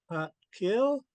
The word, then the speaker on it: Xaad Kil: That's because we have a D that's called a hard D because it falls, the pronunciation of it falls between a D and a T.